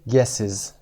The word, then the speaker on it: guesses: حدس هاتون رو your guesses تلفظ دقت کنید. guesses چون در انتها اس داشتیم. قانون پلورال، قانون جمع میگه وقتی اس میخواید بهش بدی باید es بدی و تلفظ guesses صدای is.